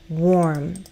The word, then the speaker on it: warm: I said warm. Warm, not worm, warm.